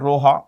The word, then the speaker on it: Roha: And uh it starts in a place called Roa.